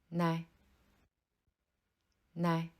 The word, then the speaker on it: 奶奶: 爷爷 Le 2e mot, 奶奶, signifie grand-mère paternelle. Bien que les 2 caractères qui le composent soient identiques, le premier caractère se prononce au 3e ton. 奶 tandis que le deuxième caractère se prononce au ton neutre. Nai. Il faut prononcer le deuxième nai plus légèrement.